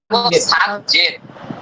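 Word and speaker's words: 三千: 3000 একটু চেঞ্জ আছে। আমরা 300 কে কি বলতাম? 300 কে বলতাম হচ্ছে সান বিয়াকু। বিয়াকু। আর এই 3000 কে আমরা বলবো সানজেন।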